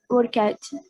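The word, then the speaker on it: worked: passado work o workout workout pronuncia como se fosse um ter também apesar de escrever work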